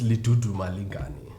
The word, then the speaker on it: Lidudumalingani: other african name i've known can can you pronounce that for us uh my name is li tutu malinkani and what does that mean uh it means